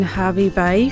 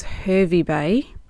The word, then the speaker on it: Hervey Bay: We are staying in Harvey Bay for the night. Apparently, you don't pronounce this town as Hervey Bay, even though there is an E instead of an A.